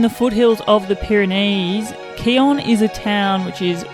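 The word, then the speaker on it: Quillan: our campsite at Keon we were Aussies we would pronounce it quillin pretty sure it's Keon just zoom in so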